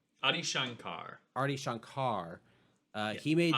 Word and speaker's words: Adi Shankar: the same uh guy Ai Shankar. Adi Shankar.